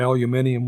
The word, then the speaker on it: aluminium: with a weight of 26.982 aluminum if you go to britain they're gonna call it aluminium which is actually the proper pronunciation for it aluminum was introduced into